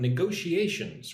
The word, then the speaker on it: negotiation: How do we say the word negotiation? Ngo, she a wow. Five syllables. Negotiation. Put the emphasis on the second syllable. Go. Negotiation. It's like n go she a shun and all the emphasis is on go negotiation get those s sounds